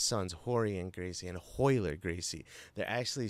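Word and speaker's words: Royler: horry and gracie and hoiler gracie they're actually spelt with ours but pronounced with an h because of the portuguese accent so i know it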